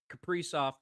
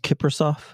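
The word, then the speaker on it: Kaprizov: Capri off gets one in the first. Yeah. Yeah. One nothing wild over the nights. Isn't it pronounced Kipper? It is not. Are you sure about that? Positive.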